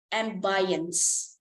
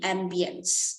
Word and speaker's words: ambience: about the next one I heard somebody said and buyance so if there anyone knowing the the correct pronunciation to this so the letter I here uh is pronounced as e Ambience and how about the